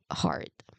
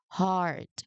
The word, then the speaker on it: heart: Uh this is the pronunciation we have heart. So there is this long sound in the uh okay. Okay. This one is a long sound. So we just say it as heart not heart but heart.